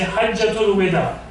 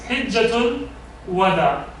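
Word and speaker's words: حجة الوداع: Many of us, we pronounce it exactly opposite. We say Hajjatul Wada. That's wrong. It's Hijjatul Wada in Arabic.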